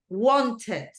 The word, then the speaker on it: wanted: Que yo realmente pronuncio esta ED, wanted, started, pero en casos como este de acá, yo no digo arrived, el sonido es mucho más sutil.